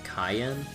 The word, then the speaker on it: Cayenne: Oh wait, isn't it pronounced Cayenne? Oh, is it Cayenne? I don't remember, because like, when I see like C-A-Y, I think K, not Kai. Okay, I'll take your word for it since you've played the rest of the Cold Steel games. Like the pepper.